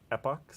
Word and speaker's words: epochs: How do you pronounce this word? Epochs?